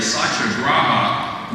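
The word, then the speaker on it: satyagraha: is something that uh in Sanskrit and our Indian colleagues with bre me when I mispronounce this but it's roughly SAA graa which uh I'm told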